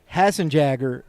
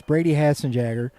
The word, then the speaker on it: Hassenjagger: Hassenjagger is the way that we pronounce Brady's last name. So it's Brady Hassenjagger. Thank you to his grandfather for helping me out with that pronunciation.